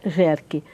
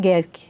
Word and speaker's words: Gehrke: A minha família, aqui em Jacareí se fala Jerk, mas se pronuncia Gerk, porque é alemão.